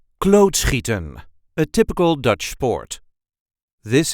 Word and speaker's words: klootschieten: a regular Dutch accent klootschieten, a typical Dutch sport. This is how we say klootschieten. Klootschieten. There is a light emphasis on the first syllable.